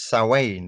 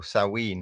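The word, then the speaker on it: Samhain: it I mean it's originally of course its saw Wayne or salween however you want to pronounce it and when Christianity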